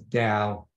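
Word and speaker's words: del: the Divergence so that Greek symbol uh is pronounced as Dal or Divergence we immediately derive we immediately can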